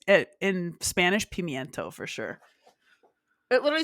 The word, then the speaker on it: pimiento: I'm an idiot aren't I no no people pronounce it pimento but it's it in Spanish pimiento for sure it literally says Queen olive stuff